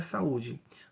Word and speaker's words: saúde: que interessante a palavra saúde vou fazer a separação silábica aqui da palavra saúde ó sa u d olha só a palavra saúde nós temos aqui três sílabas certo então você faz